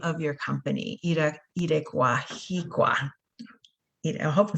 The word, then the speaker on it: IREKUARHIKUA: And also the name of your company, IREKUARHIKUA. I hope I'm saying it right. It's beautiful. So it's IREKUARHIKUA, and it's a word, a Purepecha word, which is the indigenous language of Michoacán.